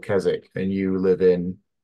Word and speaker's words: Keswick: were born in KZ well no it's it's pronounced kzk in the UK right near kezic so I I live yeah in the north of England near the lake district and in the UK it's called kesic and you live in Keswick right and I